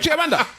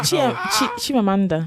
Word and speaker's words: Chimamanda: Is that name of Chiamanda? Yeah, Chimamanda. Chimamanda. Chimamanda. You left out a syllable, bro.